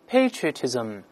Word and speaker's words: patriotism: 再读一下美式发音：patriotism， patriotism。咱们发起就是把这个 a 由 a 变成 a 双元音这个声音都行。